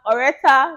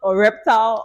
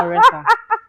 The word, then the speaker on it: Oretha: today on the channel we have Oretha, not Oreptal or Exactly. Loretta or Exactly. whatever you want to Just call. Oretha.